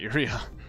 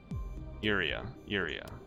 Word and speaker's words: Urea: Not Urea. Oh. Urea. Emphasis on the first syllable, not the second syllable.